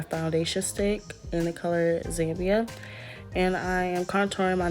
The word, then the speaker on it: Zambia: It's actually pronounced Zambia.